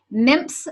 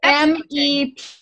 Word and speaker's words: MEPS: So it is MEPS. Yeah, there's no M.